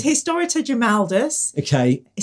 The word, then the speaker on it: Grimaldus: just put all the times we said his name wrong. Okay, so, right, okay. It's Historita Grimaldus.